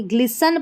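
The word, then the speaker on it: glisten: यहां पर देखिए ग्लिसन पढ़ेंगे। ग्लिसन नहीं पढ़ेंगे। इसमें भी हमारा टी साइलेंट है।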